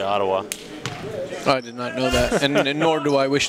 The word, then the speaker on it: Ottawa: pure butter from downtown Oh tawa that's how the locals say Ottawa and nor do I